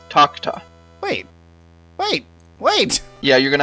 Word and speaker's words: Takuta: Takuta Temple. It's the Taco Temple. It would be pronounced more like Takta.